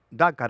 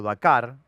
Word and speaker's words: Dakar: es en ese primer dácar o Dakar, eh según como lo quieras pronunciar, lo los marca a fuego, que es la largada simbólica en el obelisco.